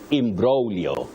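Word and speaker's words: imbroglio: me about it and this word the g is silent you say imio im brolio you don't say IMO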